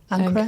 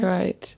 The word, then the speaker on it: anchorite: There's a beautiful word I can never pronounce. Anchorite. Recklus. What is it? Anorite. Anchorite.